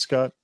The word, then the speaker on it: Scott: What is it, Scott? It's at Scott GenRedPod. That is, as you guys are probably aware, that is 2 T's. The second one is silent.